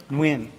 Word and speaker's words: Nguyen: Nguyen? Nguyen. So it's like a W. No, it's like the NGU. NGU. It's kind of like when I describe it as like you're closing the back of your throat, like your esophagus.